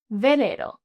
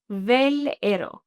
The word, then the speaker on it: velero: Now we have velero. One more time, velero. Maybe this is going to make even clearer for you how phonetically the V and the V sound the same.